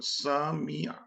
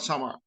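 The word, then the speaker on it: سَمِعَ: So why samia would not sama? We have no control over that. It's the Arabic language, and we have to abide by how they pronounce. So they pronounce samia verb as samia, not sama.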